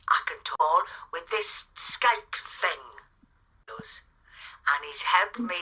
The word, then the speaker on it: Skype: conversation guys on SK Skype they're having this conversation on Skype so all of you guys whoever pronounced it a Skypey correct it today it's not Skypey it's a Skype no sir we all